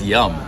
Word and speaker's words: Tom Yum: prefer the normal that's yum not young yum Tom Yum Tom Yum guy that's how you say it in time